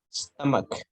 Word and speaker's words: stomach: Stomach. Stomach. It's like a k sound.